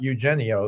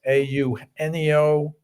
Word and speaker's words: Eugenio: And I hope I'm pronouncing his name right, but um because it's not Eugenio, that's for sure. It's AU Eno Suarez.